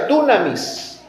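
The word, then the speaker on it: δύναμις: capacidad se tradujo de un vocablo griego que se pronuncia dunamis que significa poder fuerza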